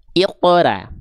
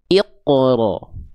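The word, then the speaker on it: اقرأ: Maka ketika kita baca bukan iqra tapi iqro.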